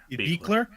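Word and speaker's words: Buechler: Speaking of the effects, you brought him up already, Sean, but John Carl Beekler, I believe you pronounce, is it Yeah. Beekler.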